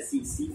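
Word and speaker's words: tsetse: और इसका वेक्टर है सीसी फ्लाई, कौन है सीसी फ्लाई, टीएसई, किसी टीसी मत पढ़ना, क्या सीसी फ्लाई, टी साइलेंट होता है, क्या इसका वेक्टर है सीसी फ्लाई।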